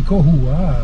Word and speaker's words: Koua: Koua, si tu prononces mal, ça veut dire langouste. Hein. Et comment je prononce bien? Comment est-ce qu'il? Eh ben, tu dis Koua.